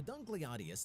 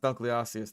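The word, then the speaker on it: Dunkleosteus: so first of all you mispronounced dun closius there second of all um dunkly Aus second of all like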